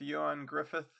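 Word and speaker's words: Ioan Gruffudd: But if you look for Horatio Hornblower with Yan Griffith, that's spelled funny.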